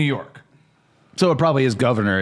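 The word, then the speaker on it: Gouverneur: Oh God, it's a governor? Yeah, apparently. Oh, I Or feel it's spelled weird. Is that governor or is that something else? Governor. Governor. That's like governor. I'm Governor.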